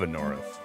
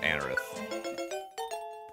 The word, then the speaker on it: Anorith: I love Anorith or people call it Anerith. I always call it Anorith, but people I think I think the the correct pronunciation's uh Anerith.